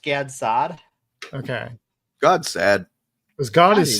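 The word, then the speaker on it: Gad Saad: figure out how to I've heard his name pronounced God sad, which is a really funny phrase. And also Gad Sad. I've always heard it pronounced Gads Sad.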